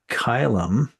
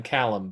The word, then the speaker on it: Kylam: you were calling him Callum before. Callum, right. But it's Kylam.